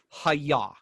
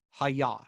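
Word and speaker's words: היה: And in classical Hebrew, that verb is haya, which is H-Y-H, hey, yod, hey, haya.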